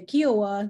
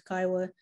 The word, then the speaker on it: Kiowa: known as the kiowa a lot of people try to say kiowa they try to pronounce all the words but it's kaiwa like iowa and so for my